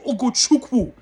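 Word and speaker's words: Ugochukwu: Let me pronounce his name properly. Leslie Ogochukwu.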